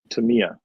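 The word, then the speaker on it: Tamiya: have no insight into Tamaya at all or Tamia. How do you pronounce it? Is it Tamia or Tamaya? Uh Tamia. Tamia third version. Not even close.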